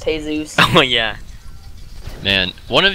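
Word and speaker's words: Jesús: The only Jesus that is real is the one in Mexico, and his name is pronounced Jesus.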